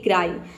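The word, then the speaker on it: cry: Rule number 3 है कि वाई से पहले क्या हो, 2 कॉन्सोनेंट हो तो वाई को हम आई प्रोनाउंस करेंगे, जैसे कि क्राई।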